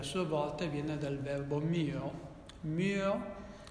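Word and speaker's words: μύω: La parola mistero viene dal greco mysterion, che a sua volta viene dal verbo myo. Myo, vedete che per pronunciarla devo chiudere la bocca, myo, vuol dire fare silenzio.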